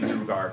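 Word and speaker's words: Duergar: Durgar. And she Dar. Yeah. I I'm doing Dugar because that's kind of how they pronounce it down here.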